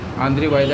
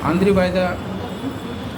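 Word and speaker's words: Andrzej Wajda: आंद्रे वायदा, उसका spelling है, जो लोग हम लोग की इस प्रोग्राम को सुन रहे हैं, क्योंकि वो लोग आजकल हर चीज़ में तुरंत गूगल में सर्च कर रखते हैं ना, तो उनको आंद्रे वायदा खोजेंगे तो नहीं मिलेगा। उसका स्पेलिंग है आंद्रेज वाजदा।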